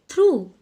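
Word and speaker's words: through: एठी देखो पिले थ्रू, थ्रू, थ्रू। एठी कोटा साइलेंट रहिला यस जी, जी को आमे प्रोनाउंस करू नाहू।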